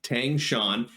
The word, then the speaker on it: Tang Shan: tang shan yes i did look up the pronunciation of his name so tang shan um instead of li ling so the esper